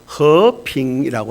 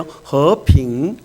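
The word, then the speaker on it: 和平: 중국 사람들은 이제 화평을 이게 어떻게 해석하는가 하면 화평을 중국말로 허핑이라고 하거든요. 한번 발음해 보실래요? 허핑.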